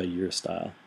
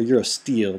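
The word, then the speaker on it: Eurostile: for i'm going to try your style or euro steel depending on your pronunciation where'd you go and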